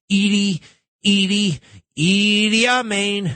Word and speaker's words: Idi Amin: Idi Amin.